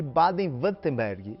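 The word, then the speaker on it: Baden-Württemberg: os melhores relógios mais famosos na região de baden wutemberg é assim que deve se pronunciar enfim é uma região a alemanha que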